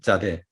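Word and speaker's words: צדי: 여기 짜대. 짜대는 S에다 점을 하나 더 찍어줍니다. 짜대 이렇죠? S에다 점을 찍어줍니다. 이것이 짜대의 음가고 우리 발음으로는 쌍지읒에 해당된다.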